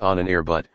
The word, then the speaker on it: Ahnenerbe: Its name derived from a rather obscure German word, Ahnenerbe, pronounced Ahnenerbut, meaning something inherited from the forefathers.